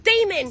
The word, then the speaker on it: Damon: That's not how you say his name, William. It's Damon.